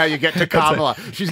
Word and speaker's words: Kamala: first came on the scene cuz everyone says Kamala which is wrong it's carala no it's carala and and when she first